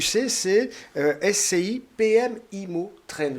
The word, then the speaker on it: SCI PM Immo Trend: que vous allez mettre sur le marché sais-tu ccsc ipm immo traîne j'ai bien prononcé c'est bien ça c'est exactement ça donc